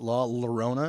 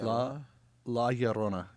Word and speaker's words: La Llorona: feel like that's funny I didn't even realize I was saying it wrong for the longest time I was saying it La Llorona because I'm not a Spanish speaking type it's la la Orana yeah like that and what does that